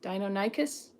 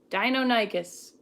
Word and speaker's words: Deinonychus: chickens dinosaurs or something Dino Dino nicest Deinonychus Deinonychus that's how you say that dildo Soros if you